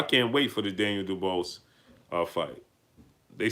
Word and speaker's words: Dubois: He said pronounced Dubois.